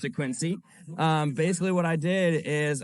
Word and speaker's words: Quincy: Some of you may pronounce it Quincy, though, but I pronounce it Quincy.